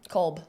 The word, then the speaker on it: Kolb: Kolb.